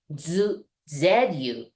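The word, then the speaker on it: づ: third one as well it's duu but we pronounce it like z u so same as a z line okay different hiana same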